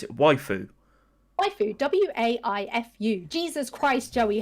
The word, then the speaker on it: waifu: The waifus are precious, man.